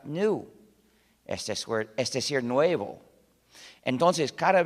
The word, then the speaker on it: GNU: Se usa en muchísimos juegos de palabras porque, según el diccionario, la G es muda y la palabra se pronuncia new, es decir, nuevo.